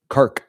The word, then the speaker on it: Kharg: energy infrastructure is here on Kharg Kharg Kharg Island as it's said to be produced pronounced.